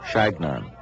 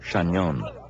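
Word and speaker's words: Chagnon: They could not pronounce my name, Shagnan or Shaon. It sounded to them like their name for a pesky bee.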